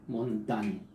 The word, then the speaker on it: Montaigne: así se escribe en mont aire pero se pronuncia montaña michel de montaigne y la obra más conocida